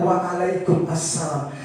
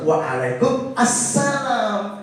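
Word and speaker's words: وعليكم السلام: Itu orang hitam itu menjawab salamnya waalaikumsalam. sesuai kaidah bahasa Arab, mereka betul. Kita yang salah. Kenapa? Karena diawali dengan alif lam. Ketika diucapkan assalamualaikum, jawabannya harus waalaikum assalam, bukan waalaikum salam. Alif lamnya tidak terikuti.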